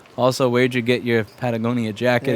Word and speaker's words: Patagonia: put back together also where'd you get your Patagonia jacket it's very nice which I probably mispronounced no it's Patagonia pagonia awesome we if if we take it